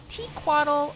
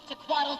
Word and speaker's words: Tequatl: Tequatl is found in the Splintered Coast within Sparkfly Fen, also called Tequatl or sometimes just Tequila Sunrise.